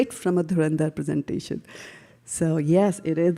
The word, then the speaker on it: Dhurandhar: So now the rules of Sanskrit when you combine dhur and dhar it becomes dhand magically it becomes durand which is much more uh you know musical to hear and musical to pronounce there right.